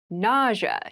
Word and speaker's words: nausea: itchy rash it rash nausea NAA NAA NAA is a a very interesting word with an interesting spelling nausea is the pronunciation nausea refers to a